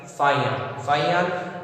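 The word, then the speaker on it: Faxian: Okay, as the descriptions provided by Fayan, who visited the court of Gupta ruler Chandragupta II. Fayan, it is written as Faxin, but its pronunciation is Fayan.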